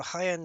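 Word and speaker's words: Jaén: bit freaking weird yeah so highend on the map it's it's spelled j a en yeah no they don't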